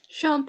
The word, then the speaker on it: Sean: Sean Parker. 역시 영어 방장님이십니다. 와우, surprising. 션이라고 있죠? 우리가 션 코네리 할 때 그 션이에요. 이거 씬이라고 영어 조금 배우다 마신 분들은